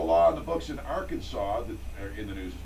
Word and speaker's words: Arkansas: on the books in Arkansas that in the news this morning it's a law that says it's illegal to mispronounce the name of Arkansas in other words you can't say Aransas oh come on luckily